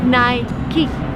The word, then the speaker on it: Nike: would say nike but the right way is nai ki because because it's just the way it's pronounced so nike now we're gonna learn two